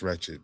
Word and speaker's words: wretched: And unfortunately, we only get the wretchedness highlighted, because the word ain't ratchet, it's wretched.